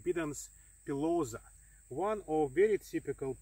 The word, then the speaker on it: Bidens: typical tropical wheat so this is a bidance or bidens if you like it but i like more latent pronunciation bidens pilosa one of very